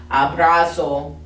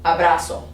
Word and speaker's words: abrazo: remember okay it just it always makes that s sound we don't do z because again it just it takes too long okay so it's not zapato or abrazo abrazo it's sabato abraso okay so let's say these